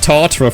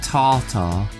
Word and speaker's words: tartare: Beef tartare. Beef tart. I think it's pronounced tartare. And what it is, it's like beef, but it's cooked.